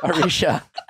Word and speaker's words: Aricia: Aricia. Like Alicia with an R.